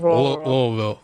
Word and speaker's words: Louisville: I can't figure out the disrespect the committee gave to Louisville because in the final AP poll, I think you're pronouncing it wrong. I think it's Louisville.